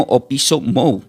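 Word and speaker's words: ὀπίσω μου: Esa palabra venid en pos de mí del griego se pronuncia como opiso mou.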